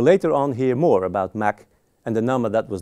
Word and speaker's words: Mach: It was presented at the Academy of Sciences in Vienna in 1887 by the Austrian physicist Ernst Mach. That's how you pronounce his name, actually.